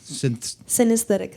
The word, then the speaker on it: Synesthetica: just going to ask you, how do you pronounce that name? Synesthetica.